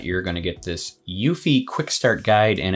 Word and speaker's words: Eufy: we are covering the yuffie that's right the e is silent by anker it is